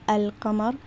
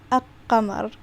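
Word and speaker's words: القمر: pronounce this word incorrectly because like i said shaddam means that you don't pronounce the lam so this would be not this would not be al-kamar this would be akamar which is incorrect right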